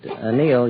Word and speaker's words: anneal: We anneal it.